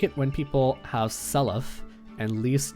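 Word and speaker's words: Seliph: It is like, I like it when people have Selef and Leaf's name rhyme. Salif? Oh, okay. Doesn't your friend pronounce it Salif?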